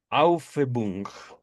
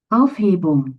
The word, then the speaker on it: Aufhebung: Ahorita la voy a pronunciar como puedo y ahorita se las muestro en pantalla en el traductor de Google. Aufhebung, que le permite volver a amar sin aborrecer, al mismo tiempo que integra el aborrecimiento.